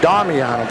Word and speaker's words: Damiano: see so I'm apologizing my last name is it's pronounced Damiano because of the vowels in Italian the way the crowds